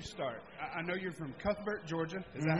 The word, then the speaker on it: Cuthbert: I know you're from Cuthbert, Georgia. Is that how you pronounce it? Yeah, Cuthbert.